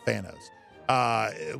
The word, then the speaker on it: Thanos: like the Marvel universe here, but is that Thanos? Is that who that is? Is that the guy's name? The villain there from that with the Thanos. Yeah, that's how you say it. Thanos.